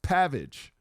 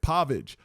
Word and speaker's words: Pavich: Your name is spelled P A V I C H. That's Pavage. You're supposed to say it Pavage. Pav is. Pavage.